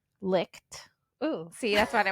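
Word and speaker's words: Licht: L I C H T licked.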